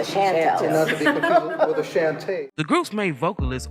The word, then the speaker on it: Chantel: we were the Shantel nobody pronounced it correctly they flattened the A and made us the Shantel shant the group's main